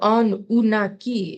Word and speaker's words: Anunnaki: The Anunnaki is actually how you pronounce it.